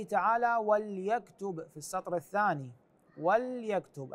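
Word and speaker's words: وَلْيَكْتُبْ: وليكتب في السطر الثاني وليكتب اللام هنا ساكنه وليس وليكتب بكسر اللام ايضا جواها في السطر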